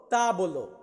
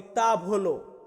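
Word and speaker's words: tavola: তার পরবর্তীতে আছে টেবিল টেবিলকে আমরা ইতালিয়ান ভাষাতে বলবো তা বলো তা বলো বা অনেকে আমরা বলি তা ভলো তা ভলো বা তা বলো দুইটা একই কিন্তু উচ্চারণে একটু ডিফাইন হয় বাট আপনি তা বলো বললেও হবে তা বলো বললেও হবে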